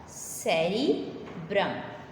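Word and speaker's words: cerebrum: जो मुश्किल वर्ड है उसकी प्रोनाउंसिएशन बेटा अच्छे से देख लें। ठीक है, ये वर्ड क्या था? सेरिब्रम।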